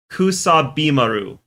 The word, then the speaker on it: Kusabimaru: It's by I can't say it as one word, but I can say out the syllables. I've learned the syllables. I know how the syllables sound. Kusabi Maru is how it should be.